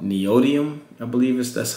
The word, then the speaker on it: neodymium: I think the magnets, I think it's called neodymium, I believe that's how it's pronounced.